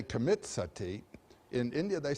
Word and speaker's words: sati: You know the word sati? In Sanskrit it's spelled S-A-T-I, long I.